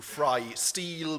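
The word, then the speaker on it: Freistil: FR steel it um FR steel is the the German word for freestyle and is pronounced exactly other way around um I've been told that there are uh people in in the USA that like to fry everything I don't know um why you wanted to fry steel but uh that's exactly how our company name is pronounced um on Twitter I'm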